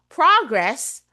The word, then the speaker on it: progress: which syllable to stress because there are words such as progress Progress progress meaning progress first syllable stress word progress it's a noun but if I use the word progress it becomes a verb same as record and